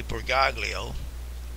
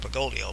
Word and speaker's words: Bergoglio: They keep saying Bergoglio, insisting on leaving the G silent at, you know, the second G silent in his name. And I guess they could say, well, it's because it's Italian. Name is Italian, you've got to pronounce it Bergoglio, but not me.